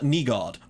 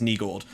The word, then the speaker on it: Nygård: But this is Nygård, or Nygård rather. I believe that's how it's pronounced. I'm just using like Swedish syntax, but I believe that is Nygård.